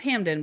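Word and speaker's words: Hampden: And Hampton, it it's pronounced Hamen, but it's spelled Hampton.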